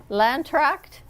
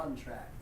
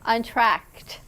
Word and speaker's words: Entr'Acte: When we come back, you're going to meet the cast of Cats from Landract. Am I pronouncing it right, gentlemen? Untracted. Untracted.